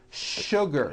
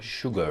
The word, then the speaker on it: sugar: not know is that there are some words in English that are written with the letter s but are pronounced with the sh sound words like sugar sugar and sure and to